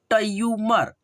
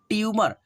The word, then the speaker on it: ट्यूमर: ट्यूमर क्या पढ़ेंगे ट्यूमर तो हमार अगर पढ़ते हो तो आपका उच्चारण गलती हो जाएगा और ऐसे पढ़ते हो ट्यूमर टी और या को साथ में मिलाकर के जब पढ़ोगे तो आपका उच्चारण सही होगा जैसे ऐसे पढ़ना ट्यूमर